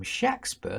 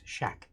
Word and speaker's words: Shakespeare: write at all but there's never a long a shake sound it's shaq shakspen there's his name there are